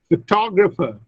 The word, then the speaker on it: photographer: But when I add ER to photograph, look, the stress shifts from the first to the second syllable, photographer, and so many vowels also change.